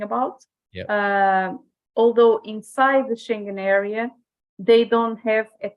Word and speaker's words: Schengen: I will, All right, let's see what the question was before we go to Schengen, rhyming with penguin.